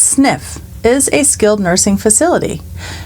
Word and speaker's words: SNF: An SNF pronounced sniff is a skilled nursing facility.